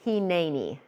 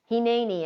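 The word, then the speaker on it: הִנֵּנִי: That word is pronounced Heni. Heni, and it means here I am.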